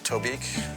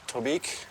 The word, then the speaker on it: Tobique: What rhymes with Tobique? Oblique, kind of like you. Being a party to the writing process is grueling for me. Chic, like me. Reek, like you. Sleek, like me.